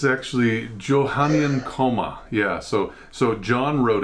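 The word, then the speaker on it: Johannine Comma: be included in the bible please look up comma johanna neil is that how you pronounce that pastor yeah it's actually johannian coma yeah so so john wrote it johannien and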